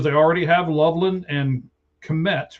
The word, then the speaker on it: Kmet: So he's essentially a third tight end with the Bears because they already have Loveland and Kmet, right? That's how you say it, Kmet?